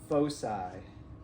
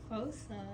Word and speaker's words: foci: It's if you have 2 focuses, do you know how to say it? It's foci, right? Foci. Foci means 2 focuses.